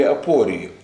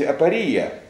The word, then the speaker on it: апория: который создал знаменитые свои апории. Хочу заметить, что вообще правильно говорить апория, но как-то мы по-русски привыкли ставить ударение вот на втором слоге, потому я уже буду следовать этой традиции.